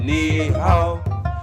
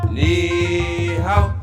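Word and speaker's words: 你好: says meow when we say hello we say knee how Nihao need help when we say hello we say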